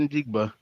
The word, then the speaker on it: Njigba: Njiba. Njiba? Njiba. Njiba? Njigba? Yeah. If they go get Njigba, Smith Njigba, I'm not going to disrespect his last name.